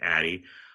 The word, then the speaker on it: Adi: first name down ADI it's pronounced Addie I find when I